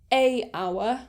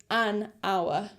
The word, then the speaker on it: hour: to these rules are words that start with a silent h so for example words like honor or honest or hour so instead of saying a hour because it's a silent h it would technically start with an o so the vowel so we'd say an hour or we would say